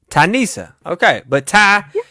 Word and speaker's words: Tanissa: okay so what's this you know how to say lisa right lisa yeah so instead of lisa but nisa nisa and then tanissa thank you tai so